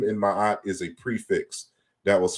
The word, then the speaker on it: Ma'at: also corresponds to the we erroneously say like ma and mat when we're pronouncing that root. But ma'at is 4 consonants.